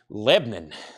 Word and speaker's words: Lebanon: from Lebanon Tennessee or if you're local we call it Lebanon one syllable Lebanon in Tennessee what